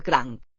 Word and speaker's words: cranc: El cranc. Don't hear a K at the end.